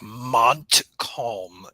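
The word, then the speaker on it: Montcalm: and mome he really got to nail that pronunciation yeah I know I'll be I'll be more precise I'll be like Mont Colm County yeah there we go especially for our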